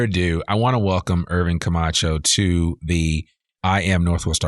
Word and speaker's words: Irvin Camacho: but without further Ado I want to welcome Irving kamacho to the I am Northwest Arkansas podcast how